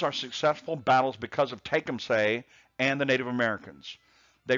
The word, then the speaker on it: Tecumseh: Sometimes you'll hear it pronounced Tecumseh, but it's Tecumseh.